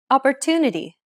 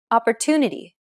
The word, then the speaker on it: opportunity: Opportunity. Opportunity. The stressed syllable to in opportunity is pronounced longer than all the other syllables.